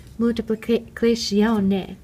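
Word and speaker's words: moltiplicazione: In Italian, it's pronounced multiplicazione.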